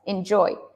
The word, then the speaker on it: enjoy: right enjoy enjoy and the stress in enjoy is on the second syllable so yes enjoy enjoy and then what else